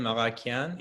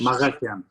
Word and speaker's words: Maghakyan: Yeah, in Armenian it's Maghakyan. In English, Maghakyan.